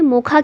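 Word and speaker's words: Mocha: suggest किया गया है मोचा जो है इसे यमन लैंग्वेज में मोखा के रूप में प्रोनाउंस किया जाता है फिर यहां पर ऑपरेशन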